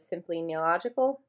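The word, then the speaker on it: Simply Nailogical: If you guys like Holo, you've maybe heard of Simply Neological.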